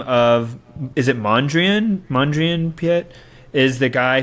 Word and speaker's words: Mondrian: completely uh you're right Mondrian oh I said it wrong I think I said manjun Piet anyways so if